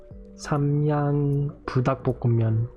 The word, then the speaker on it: Samyang: In Korean, we pronounce it Samyang. No, Samyang.